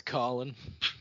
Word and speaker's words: Kholin: I've always said Kholon, or Kholin, I think is maybe how it's supposed to be pronounced. I've heard it said that. Colin. It's Colin.